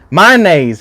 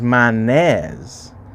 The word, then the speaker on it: mayonnaise: figure out my Nays my dad sometimes says manes but I say my and sometimes it's